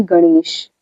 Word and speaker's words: गणेश: मान लीजिए कि ये मैंने लिखा टवर्ग का ण, तो आप इसे क्या पढ़ते हैं, बहुत से लोग न पढ़ते हैं, जबकि इसका उच्चारण र जैसा होता है।